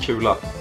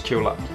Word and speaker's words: Kula: sweets and Kula is it's pronounced Kula in Swedish Kula Kula Kula Kula and